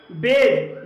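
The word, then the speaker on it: badge: जैसे कि बेज। बेज में डी के बाद जी ई आया है और यहाँ पर डी साइलेंट है, इसलिए इसे बेज पढ़ा जाएगा।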